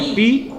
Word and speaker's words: pi: grega não é Ômega na hora que você vai falar ele é uma uma sílaba só o símbolo dele é isso aqui ó não é o homem começa com p é uma sílaba ou é p a ou epi ou é par ou é P ou é pi é pipop então é pi pi ele é um valor